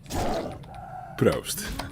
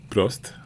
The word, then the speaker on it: Prost: Proost. Cheers. Is this how you say it in German? In German. Prost. With the one O. The one O. Because in Dutch it's double O.